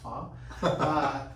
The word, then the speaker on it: pho: We just have our first pho restaurant, which I found out it's not pronounced pho, it's pronounced pho.